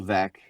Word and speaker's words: Veeck: Bill Veck. Bill Veck. Yeah. So his last name is spelled Veeck.